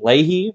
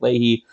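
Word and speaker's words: Löhe: uh Johan Conrad Wilhelm Ley or Leia I've heard that name pronounced a number of different ways I'll be pronouncing it Ley I think that's the way one of my professors pronounced it but he was a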